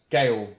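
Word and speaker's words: gaol: now I know yes Gail G a Oh L it's basically the British spelling of jail which Americans they buy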